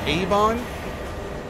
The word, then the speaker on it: Avon: Oh, it's pronounced Avon?